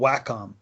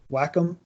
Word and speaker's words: Wacom: that produces these projects is a company called Wacom Wacom Wacom I still never pronounce it right I've seen the name and